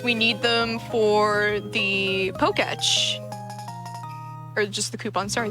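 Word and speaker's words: Pokétch: I always pronounced it Poketech. Poketech. I think it's supposed to be like a watch. Then should it be Pokach? I thought it was Poketch, personally. That's how it's spelled. I always thought it was Poketech. Like the E was like elided, but it was still. Yeah, I think it's just Poketch.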